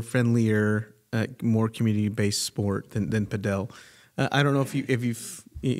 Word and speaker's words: padel: You hear about padel. Am I saying it right? I feel like I say it right and everyone says it wrong. Is it paddle or padel? I say padel as well.